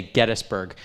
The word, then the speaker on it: Gettysburg: to say Gettysburg actually our historian Tim Smith declared the other day he's now the official County historian that it is pronounced Gettysburg and so so we're all struggling now to say it since he's put out a decree that it will be it will be henceforth Gettysburg and 1800 the